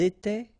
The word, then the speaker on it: étaient: étions, vous étiez, ils étaient, elles étaient. Alright, so exactly the same rule. Remember, final S, here, here, final T, and then here, E-N-T, you don't pronounce them.